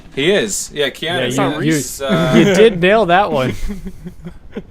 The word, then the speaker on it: Keanu Reeves: Yeah, Keanu Reeves.